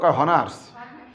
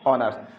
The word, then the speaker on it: honours: যদি শব্দের শুরুতে থাকা এইস এর উচ্চারণ সাইলেন্ট থাকে, সাইলেন্ট কেমন থাকে? অনেস্ট। অনেস্ট বানান কি? জিজ্ঞেস করলো কি পাস করেছো, হনার্স। হনার্স পাস করেছো না? HONOURS কি হয়? হনার্স। তাহলে এই হনার্স পাস করলাম, আসলে হনার্স তো পাস করি না, কি কোর্স করছে? অনার্স। তাহলে এইচটা কি হয়ে গেছে? সাইলেন্ট।